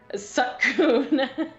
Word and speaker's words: Suicune: I feel like in this episode, if you're not going to name it, it's pronounced Suicune.